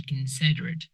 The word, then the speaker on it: considerate: The second mispronunciation is you have to be considerate. Considerate. You have to consider. But the adjective is considerate.